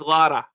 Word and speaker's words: Lara: Her name is Lara, not Laura.